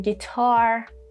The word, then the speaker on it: guitar: U three situations when there is gu like in guitar, disguise and guest.